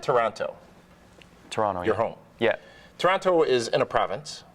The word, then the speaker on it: Toronto: did I say now we don't pronounce the second T that the indigenous people